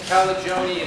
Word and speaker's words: Calagione: We're going to enjoy so much hearing from Mariah Calagione. Yes, that's right. Rhymes with baloney. Calagione in just a minute.